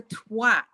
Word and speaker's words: twat: So say it with an A and not an O. Yeah, don't say it like an R sound. Say it like an A sound. Twat. Wow, what a twat. What a twat. And don't say the last T.